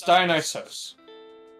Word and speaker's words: Dionysos: Yes, but the original Greek spelling is Dionysos. And that got basically anglicized to Dionysus. Okay, so it turns out both spellings are incorrect in terms of pronunciation. Yes, it's Dionysos.